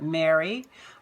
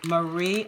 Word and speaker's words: Marie: package are Marie and some people call it Mary but it's in America I pronounce it as Marie Antoinette some tags various tags